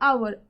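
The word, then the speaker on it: hour: आवर, आवर में किसकी आवाज आ रही है? एच में। एच की प्रोनाउंसिएशन क्या होती है? आवर।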